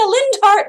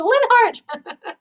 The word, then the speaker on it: Linhardt: Oh, it's pronounced Linhart. Everyone, like, I'm people like, Lindhart. No, it's Linhart.